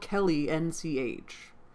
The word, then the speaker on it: Kellynch: Croft seeing Kellynch, I want to say Kelly, because it's spelled Kelly, N-C-H. Kellynch Hall, Anne found it most